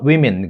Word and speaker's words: women: Men are more likely than women, 그죠? 발음 조심하시고, woman이 아니라 women입니다. 그죠?